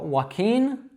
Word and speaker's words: Joaquin: So Joaquin, walking.